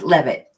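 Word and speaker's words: Leavitt: think so so with me is joining pronounce your last name for me again it's love it love it l-e-a-b-i-t-t that's what you define her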